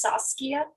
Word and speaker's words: Saskia: my name is pronounced saskia sauce like tomato sauce kia like the car um i'm used to